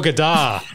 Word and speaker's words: Gaidar: No, it was Igor Gaidar. Tom seemed to, in the episode, pronounce it Gaidar, and yeah, I put Czech